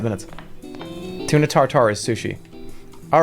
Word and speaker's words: tartare: Tortor. What? You guys follow? I'm saying it right. That's correct. Steak tartar. Steak tartare.